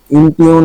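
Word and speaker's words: impugn: এ আকার উচ্চারণ হয় এখানে কিন্তু ইউ উচ্চারণ ইমপিউ ইমপিউন মানে হল সত্যতা বা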